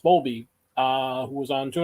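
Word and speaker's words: Bowlby: uh April uh Bob I think it's pronounced bolby uh who was on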